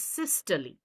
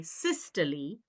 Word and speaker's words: systole: But in the heart, we say systole for contraction. And the opposite, relaxation, is diastole. Diastole means relaxation. Now, some students will say systole, diastole, but I think the correct pronunciation is systole, diastole.